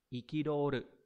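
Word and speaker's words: 憤る: Nó sẽ đọc là ikidoru.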